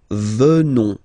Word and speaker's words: venons: Final S not pronounced. So O-N, on, venons, venons.